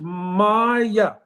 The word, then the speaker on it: Maya: In the word Maya, there's two syllables, Maya. So Ma means mother.